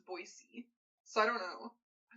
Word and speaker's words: Boise: I feel like when my birth dad lived there, he was always like, the correct pronunciation is Boise.